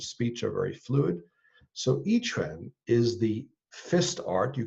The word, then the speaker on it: Yi Quan: Well, the style that I'll be sharing there is called, as you say, Yi Quan. The Q is pronounced like a CH, so YIQUAN.